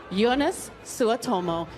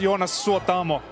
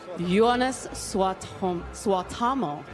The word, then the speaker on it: Suotamo: Ladies and gentlemen, Jonas Suotomo. Hi, how are you this evening? I'm very good. It's pronounced Jonas Suotamo. Jonas Suotamo. It's a tongue twister.